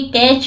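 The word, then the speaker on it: catch: कर लूंगा पकड़ लूंगा ये कैच में आप सी एच के पहले अगर टी हो आया हो तो वो हमेशा साइलेंट होता है द हंटर शिकारी क्लाइम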